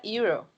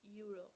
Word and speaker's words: euro: Okay, it sounds like Y. So Y is a consonant, right? So instead of N, I have to use E. Just E. So euro, It's euro. Ah, okay.